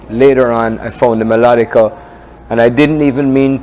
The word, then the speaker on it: melodica: a maraca let me tell you the Wright's pronunciation is melodica melodica and it's like a cousin I call it